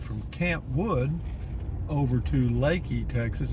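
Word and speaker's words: Leakey: camp wood over to lakey texas it's spelled l-e-a-k-e-y looks like leaky but it is pronounced lakey in this area it's highway 337 and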